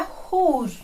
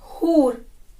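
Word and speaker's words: who're: हु आर से बन जाता है हु apostrophe RE, हु आर की कॉन्ट्रैक्टेड फॉर्म है हुर, क्या है? हुर। अब प्रोनाउंस करके देखिएगा आप भी, हुर।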